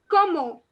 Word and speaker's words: comment: jody so the word the english word comment that you can see over there is not comment in french but it is pronounced as como como so the nt is